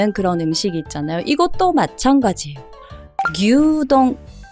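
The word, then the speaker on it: 牛丼: 음식 있잖아요 이것도 마찬가지예요 규동 앞에 규르 길게 동이라고 해주셔야 돼요 그리고 여행을 가기 위해서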